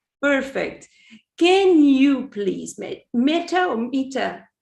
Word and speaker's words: Meeta: uk correct correct perfect can you please mate metta mita how do you pronounce meeta can you present yourself tell who you are what you do sure so uh my name is mita i am a fitness coach um i run